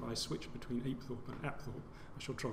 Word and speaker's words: Apethorpe: Apethorpe Palace as it's recently been renamed, sometimes pronounced Apethorpe. I'm going to stick with Apethorpe because it's the way I've been describing it